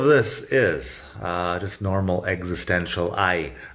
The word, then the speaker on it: hay: All of this is just normal existential ay. The pronunciation ends up being the same because the H is silent again and you end up with the A and the Y or the I sound.